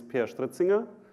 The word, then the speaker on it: Peer Stritzinger: to do this so my name is Pierre Street singer so I have it pronounced once correctly I'm the owner